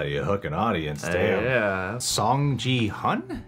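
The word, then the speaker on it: Seong Gi-hun: hook an audience yeah song ji hun is how you say it a song song he's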